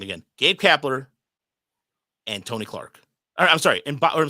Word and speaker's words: Gabe Kapler: cat kler G I said it wrong again Gabe kapler and Tony Clark all I'm sorry and I'm